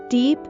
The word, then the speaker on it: deep: down the d e and deep is pronounced with the long e sound deep down he's really